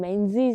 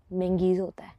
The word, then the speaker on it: Menzies: the word M.E.N.Z.I.E.S then the correct pronunciation is not Men-zees but Ming-is Let's go home and have a cuppa.